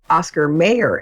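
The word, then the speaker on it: Mayer: name you know John Mayor the musician that's pronounced mayor and that that particular spelling says may or not Meer and so but they're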